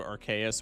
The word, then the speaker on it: Arceus: Arc uses K and it goes to soft C when you do Arch, so Arceus with a K makes sense.